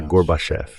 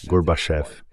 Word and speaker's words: Gorbachev: So it's easy, Mr. Vice President. Say garbage. Então é fácil, senhor vice-presidente. Diga garbage, agora diga off. Agora coloque o acento em off e diga as duas juntas, Gorbachev.